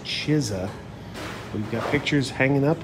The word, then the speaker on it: Chizza: going to try this Cheesa let's get crazy here's the ad waiting for our CH I guess it's pronounced chisa we've got pictures hanging